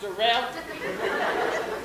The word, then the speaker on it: Darrell: my name is darrell it's stuff like daryl but it's pronounced dorel and i just want